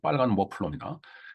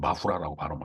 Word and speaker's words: 머플러: 정확하게 말하면 빨간 머플러입니다. 근데 옛날에 워낙 1964년 작품이기 때문에 그때 당시에는 머플러를 목도리죠, 목도리, 목에 두르는 거. 그걸 마후라라고 발음을 했어요. 일본식 발음입니다.